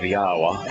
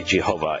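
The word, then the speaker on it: Yahweh: the basis of of yahwa and why we know how God's name is pronounced how it's obvious how his name is pronounced and and uh why Jehovah is absolutely wrong after the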